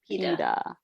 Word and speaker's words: pide: But pronounced Pide.